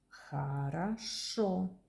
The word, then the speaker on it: Хорошо: Хорошо How are you? Fine. Everything is good. How are you? Fine. The second O became a because the accent is on the first.